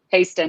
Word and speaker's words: Hasten: That's how we pronounce it, right? Hasten, yeah.